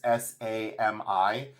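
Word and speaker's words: Sámi: I believe this is, I don't know if it's pronounced Sami, but it's Sami, Sami.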